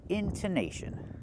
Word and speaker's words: intonation: We say tun tun, intonation. Don't make the long o, make the short uh like cup and up, into intonation.